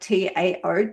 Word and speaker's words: Tao: Tao is spelt T-A-O, like Tao, things like that.